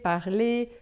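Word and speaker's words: parler: Lembrando que e er sempre sempre no final a gente só vai falar e não vai falar o r final.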